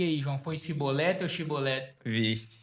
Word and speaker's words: chibolete: Os filhos dos Efraimitas, dizendo que se falasse chibolete, né? Tinha que falar chibolete. Agora, quem falasse cibolete Pode cortar o ia ser morto.